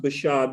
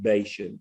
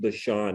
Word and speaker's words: Bashan: And it is pronounced Bashan, but we're Texans and we get away with Bashan because that's why we normally, but it is really pronounced Bashan in Hebrew.